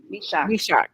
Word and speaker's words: Meshach: Can somebody give me the correct pronunciation of Misak? Is it Misak? Meshach Taylor.